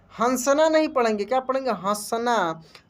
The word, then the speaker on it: हंस: हंसना। तो देखिए, यहीं से आपको क्लियर होगा कि अंतर क्या है। यहाँ पे जैसे कि इसको हम क्या बोले, हंस, यानी यहाँ पे आधा न का उच्चारण हुआ।